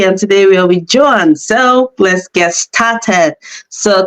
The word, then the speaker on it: Joan: And today we are with Joan. So let's get started. So can you tell us about yourself? Let's get an introduction. Yeah, hi everybody. My name is Joan. It's actually Joan.